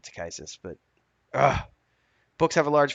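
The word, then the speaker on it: Takhisis: the dark dragon goddess to kisses to kisses however you want to pronounce this um i always pronounce it to kisses but books have a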